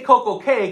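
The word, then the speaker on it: CocoCay: Caribbeans um perfect day we say Coco K cuz it Rhymes it looks like K but it is a key but and that's their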